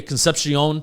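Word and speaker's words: Concepcion: I I watched um Casey, how do you say Conception? Yeah, Conception.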